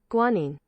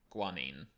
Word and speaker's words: guanine: G is uh guanine I forget how to pronounce that see is cyto sign actually let's I can literally Google that to find out the pronunciation guanine guanine okay adenine guanine oh